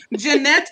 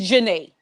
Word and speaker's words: Janae: Jeanette, is I it like that. Jeanette? How do you say it? Jeanette? It's, it's Janae.